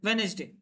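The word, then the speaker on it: Wednesday: हैं वेडनेसडे ठीक है यहां पे डी साइलेंट है क्या है डी साइलेंट है डी साइलेंट है वेडनेसडे ऑन वेडनेसडे सेट द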